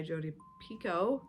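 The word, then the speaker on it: Jodi Picoult: on that then I read mad honey by jod Pico I learned that's how you say her name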